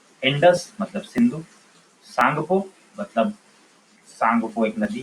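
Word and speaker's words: Tsangpo: जो सांगपो लिखा हुआ है उसमें टी साइलेंट है।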